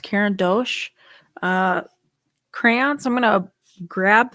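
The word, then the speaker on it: Caran d'Ache: I even got out my I think it's pronounced Karen Dosh uh crayons I'm gonna grab them really quick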